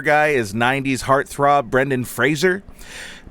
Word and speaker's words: Fraser: Oh, did I mention that bar guy is 90s heartthrob Brendan Fraser? Pronounced Razer with an F in front.